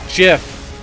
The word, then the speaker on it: GIF: the jif guy ian it's gif now it's jiff it was with the man wanted dammit this